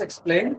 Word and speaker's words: explain: For example, the words explain. The words what the words explain is stressed on the second syllable.